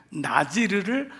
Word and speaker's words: 나지르: 사람이 해서 시인인가 아닙니다 나실인이란 단어는 지르라고 하는 발음을 나시르 나지르 한글 음역으로 한 거예요 거기다 사람 인자를 붙인